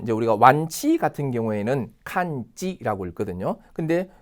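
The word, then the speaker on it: 完治: 그다음 보면 이제 우리가 완치 같은 경우에는 칸지라고 읽거든요.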